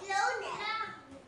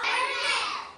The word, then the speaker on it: colonel: Ang basa dito ay colel. Cernel. Ulitin niyo. Cernel. Cernel. Cernel. Cernel. Anong basa dito? Kernel.